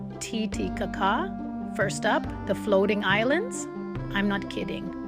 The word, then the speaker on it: Titicaca: It's pronounced Titicaca.